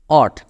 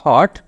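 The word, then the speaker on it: what: অট উচ্চারণটা কিন্তু এখানে খেয়াল করবেন, নট হট, ও ঠ, এর উচ্চারণটা হবে এরকম অট। অথবা আরেকটা উচ্চারণ আছে, ওয়াট উচ্চারণ আছে, ওইটা ব্রিটিশ উচ্চারণ না, তো এটা দরকার নেই।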